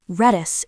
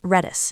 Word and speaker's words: Redis: Redis, an open-source in-memory data structure store that can